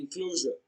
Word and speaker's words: enclosure: It is also found where we have letter S in enclosure, j.